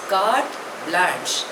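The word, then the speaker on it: carte blanche: एल ए एन सी एच E pronunciation is काट ब्लाश इट इज अ French word दो it's literal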